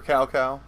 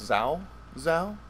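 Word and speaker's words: Cao Cao: out of it were cow cow who is it's really pronounced zao zao oh uh and he's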